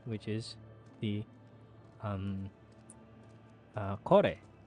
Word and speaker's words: Kore: is the um uh Kore or core which is spelled as k-o-r-e and uh it's this